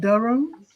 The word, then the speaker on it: Durham: yeah so is that how they say it in england dull room i have not actually